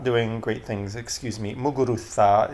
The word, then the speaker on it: Muguruza: Muguruza is the proper pronunciation since she's from Spain.